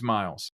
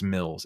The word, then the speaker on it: Mills: R., Sue Steves, Miles. Mills? It's Mills. It's 2 L's. I feel like the double consonant forces me into a short I sound.